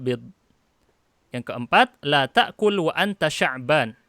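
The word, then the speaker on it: شعبان: yang keempat letakku luanta Sya'ban bukan saban ini salah ya Sya'ban itu nama bulan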